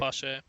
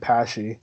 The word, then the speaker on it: Pesce: Is it pronounced Pesce? Yeah, it's Pesce. I just had that clarification recently. The other day. I think I've been saying it Pashy. I said Pash.